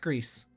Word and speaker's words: Gris: not played Gris yet and it's pronounced grease grease yes see alright greased lightning